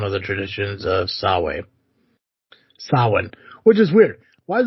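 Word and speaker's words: Samhain: Yet, the Halloween holiday has its roots in the ancient Celtic festival of Saman uh, sawin sawin.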